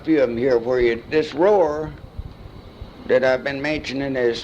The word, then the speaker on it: Roi: a few of them here for you this Roar that I've been mentioning is spelled Roi in the mirror is n-a-m-u-r in